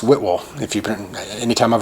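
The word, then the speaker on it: Whitwell: here before i'm almost positive but it is pronounced whitwol whitwall tennessee and he might look like wit whale and it might should be there i don't know but it's whit will if you print anytime i've heard anybody mention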